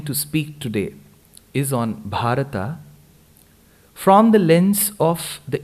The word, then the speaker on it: Bharata: a different way so when we take such nouns with in the perspective of samskritam the last letter needs to be given its complete sound together is bharata but